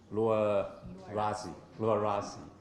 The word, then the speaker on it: Luarasi: It is indeed a great honor for me to come to the University of how should I pronounce it? Luarasi, yeah.